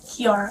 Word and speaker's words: Kiara: Kara. Spell it for me.